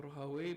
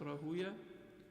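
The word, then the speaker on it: Rahawayh: And then their teachers was also Ishaq ibn Rahuya, or Rahaway, but it's pronounced Rahuya.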